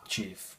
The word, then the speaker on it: GIF: Apparently it's supposed to be pronounced JIF, but like, no, because I don't see a J there.